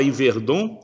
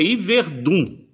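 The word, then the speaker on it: Yverdon: mim, ó, você fala Iverdon, Iverdon, mas o suíço não gosta, não. O certo é Iverdun, né? Se escreve com O, mas se pronuncia com U, Iverdun.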